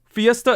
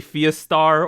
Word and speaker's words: Fiestar: So Fiesta is spelt very weirdly, so it's Fiestar. That's how they spelt it. Don't ask me why, but that I still sometimes say Fiestar or something, but it's Fiesta, and their song Vista,